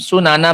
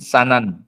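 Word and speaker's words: سُنَن: Ibrahim ya alaihialatu wasalam sunana mangkana qoblakum bidomisin dengan mendomah sin su ya bidomisin turukhum maknanya jalannya mereka wajuzu fathusin bimakna thqihim boleh juga dengan mfathah sin sanan boleh sanan Boleh sunan bacanya maknanya jalan sama.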